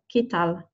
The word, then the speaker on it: ¿qué tal?: I am not pronouncing it qu, okay? QU in Spanish is not pronounced qu. So don't say qu here or qué. We say ¿qué tal? QU is a k sound, okay?